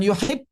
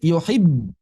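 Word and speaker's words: يُحِبُّ: Yuhib, bukan yuhib, ya, bukan yuhib, tapi yuhibb. Yuhib, ada dorongan singkat. Yuhib, berhenti seketika. Yuhib. Dorongan itu terjadi karena ada apa? Ada aliran suara atau aliran udara yang bergerak dari tenggorokan ke bibir, kan? Ada momen atau jeda singkat. Yuhibb, sampai ke bibir, dan selesai.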